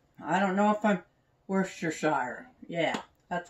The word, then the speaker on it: Worcestershire: crazy some worcestershire i don't know if i'm worcestershire yeah that's how you say it put a